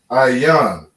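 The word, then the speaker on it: עין: And we pronounce that Ayan. All right. You have an I, a ya, and a na. Ayan.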